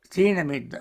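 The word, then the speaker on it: thīna-middha: Thinamidda.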